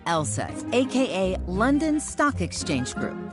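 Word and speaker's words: LSEG: be a bit misleading take ours for instance pronounced LSAT AKA London Stock Exchange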